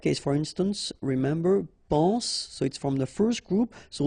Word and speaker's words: soit: Okay, then of course être and avoir, so être will become soit, remember final S is not pronounced, soit, then soyons, soyez, all right?